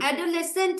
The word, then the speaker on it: adolescent: অ্যাডোলেসেন্ট হলো এডিও, অ্যাডো, এলই, অ্যাডোলেস, SCENT, অ্যাডোলেসেন্ট, এস আর সি পাশাপাশি আসে এবং দুটোরই উচ্চারণ হয়, সাধারণত একটা কনসোনেন্ট বাদ হয়ে যায়, কিন্তু এখানে সেটা হয়নি, অ্যাডোলেসেন্ট।